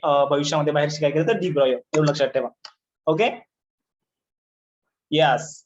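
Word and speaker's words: de Broglie: काय म्हणायचं याला, त्यांनी याला काय म्हणलंय, याला तुम्ही प्रोनाउन्सिएशन करा डी ब्रॉयो, डी ब्रॉयो असं प्रोनाउन्सिएशन करा.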